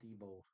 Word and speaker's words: Diebold: Yeah, but it's pronounced Diebold. Diebold, Diebold.